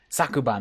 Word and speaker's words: 昨晩: This says last night, but I want to make sure that I get the pronunciation right. Thank you, Chibi. Y'all drank Poppy's coffee or something? Sakuban, last night.